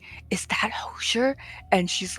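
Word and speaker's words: Hozier: it's Hosier.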